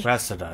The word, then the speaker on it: Cressida: Cressida, that's how you pronounce it.